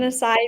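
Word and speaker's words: açaí: Acai bowls.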